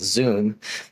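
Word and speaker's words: Zūm: with in California called Zoom that's z-u-m the U with a little line over it so you pronounce it correctly but basically they're a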